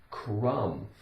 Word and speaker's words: crumb: Again, we have like in numb, but crumb.